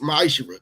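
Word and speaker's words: מעשר: chapter 3 verse 8-10 means tenth in Hebrew and it's pronounced maisher 10% of every penny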